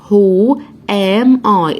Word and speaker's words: who: هنا عندي لازم اعرف السؤال بتاع الوحدة اللي هو who am I. اتفقنا ان حرف الW مش هنطقه من اول who am I انا مين، فقالت لها I'm a girl انا بنت.